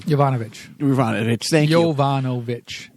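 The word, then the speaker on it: Yovanovitch: Jovanovich. Like Yankovic.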